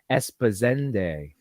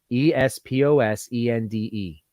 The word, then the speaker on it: Esposende: coast with my girlfriend in a village called esposende e-s-p-o-s-e-n-d-e esp-o-s-e-n-d-e espo esposende I'm trying to pronounce it correctly yeah um here in the